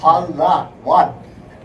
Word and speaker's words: Palawan: Palawan is P-A-L-A-W-A-N. Just the way you say it. Palawan.